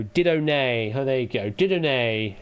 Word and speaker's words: Didone: Didone is how it's probably pronounced.